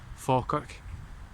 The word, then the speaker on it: Falkirk: The town of Falkirk is really mispronounced. It should actually be Falkirk, and it means speckled church.